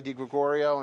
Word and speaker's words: DiGregorio: catch me it's Larry D Gregorio and it sounds just like it's spelled D Gregorio and then on Instagram